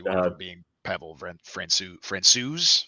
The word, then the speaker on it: Francouz: talked about this, and I already forgot how it's pronounced. It's Francouz. I think they said Franco or Francouz. Maybe. I'm gonna trust Pat Foley. He said Francouz, and he knows.